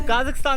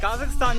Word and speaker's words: Kazakhstan: तो काज़ाकिस्तान से एग्जिट करते हुए एक बात बताना चाहूँगा कि काज़ाकिस्तान की प्रोनाउंसिएशन काज़ाकिस्तान है, कज़ाकिस्तान नहीं है, जो कि मोस्टली इंडियन बोलते हैं।